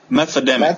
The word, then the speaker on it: Methademic: Methademic. Methademic? Yeah, we go. Like meth and pandemic.